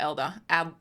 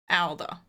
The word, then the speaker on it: Alder: Adler, right? Am I saying it right? Alder? Or Elder? No, it's not Elder. Alder.